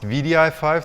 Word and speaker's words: wdi5: sorry for those um it's uh pronounced vidi5 that's right even though it's spelled wd5 and its official npm